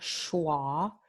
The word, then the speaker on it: schwa: Esta vocal es muy importante, se llama schwa, the schwa vowel, S-C-H-W-A, schwa.